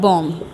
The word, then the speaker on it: bomb: সো এইখানে এই যে BOMB এই ওয়ার্ডটা কিন্তু সাইলেন্ট বি লেটারের, ঠিক আছে? তার মানে লাস্টে যে বিটা আছে বিটা কিন্তু উচ্চারণের সময় উচ্চ থাকবে, শুধুমাত্র আমরা প্রোনাউন্স করবো BOM এই পর্যন্তই, বম বম দ্য বম।